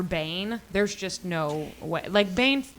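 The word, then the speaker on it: Bain: Bane rhymes with Cain, bitch.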